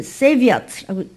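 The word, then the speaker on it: צְבָאוֹת: 그래서 세비아트라고 읽고 발음 좀 힘들죠?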